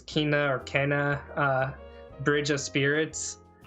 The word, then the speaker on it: Kena: Another game that looked really cool, I don't know if I'm going to mispronounce this, I think it's Kena, Bridge of Spirits. It's Kena.